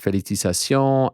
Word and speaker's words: felicitaciones: Felicitaciones a Grasso. I think I said that. How do you say felicitaciones? You got it. I said it in French.